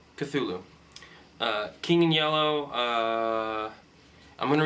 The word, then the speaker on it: Cthulhu: I mean, I'm a huge Cthulhu fan, and yes, that's how it's pronounced, Cthulhu.